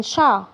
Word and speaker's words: chat: والتي هنا ما بتتنطقش عشان احنا قلنا ان التي في اخر الكلمه مش بتتنطق.